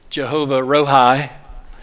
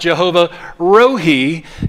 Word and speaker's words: Jehovah Rohi: south we could say jehovah rohi but it's pronounced jehovah rohi in the hebrew language now this is a